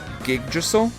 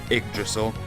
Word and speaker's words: Yggdrasil: Don't pronounce the Y in Yggdrasil. Gigdrasil? Treat it like an I. Yggdrasil.